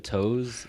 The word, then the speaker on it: To: it's spell t o it's pronounced toe but then like i